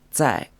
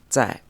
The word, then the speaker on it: 在: character which is pronounced say in the fourth tone remember that this Z or Z sound is almost like a soft TS sound in English and it's in the fourth tone say so as you can